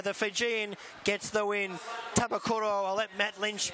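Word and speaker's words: Banuve Tabakaucoro: Tabakuro, I'll let Matt Lynch pronounce the winner. Benube Tambakatoro.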